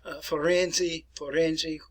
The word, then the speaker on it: Firenze: Genova, Milano, Bologna, Palermo, which is in Italy, Firenze, which is kind of in the north-central parts here, a little bit over on the western side of the Italian peninsula.